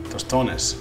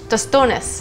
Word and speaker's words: Tostones: Tostones. Tostones.